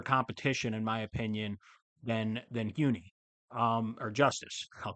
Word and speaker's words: Huni: I believe it's Huni. I believe there's a silent H there.